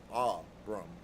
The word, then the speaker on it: Abram: Phonetically with a heavy accent on the first syllable. Aram and Dolores asks, "Is Ben David his father?"